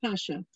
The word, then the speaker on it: Pasha: Salima originally achieved fame as Salima Pasha, pronounced that way, Pasha, which was her family surname.